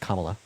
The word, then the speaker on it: Kamala: then second of all her name is pronounced Kamala so why are you